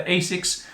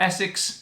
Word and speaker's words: ASICS: nike packs over the asics or essex depends on which country you're coming from how you pronounce these different shoes nike or nike and